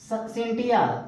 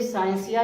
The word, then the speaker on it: scientia: Latin भाषा के देखिए, अब सिंटिया, बहुत लोग देखिए साइंसिया भी पढ़ते हैं और सिंटिया भी। उच्चारण जो प्रोनाउंसिएशन होता है, कहेंगे मतलब हिंदी में जब पढ़ेंगे तो सिंटिया पढ़ेंगे, इंग्लिश पढ़ेंगे तो साइंसिया। जैसे SCIENTIA, बहुत लोग उसको साइंसिया पढ़ते हैं, बहुत लोग सिंटिया।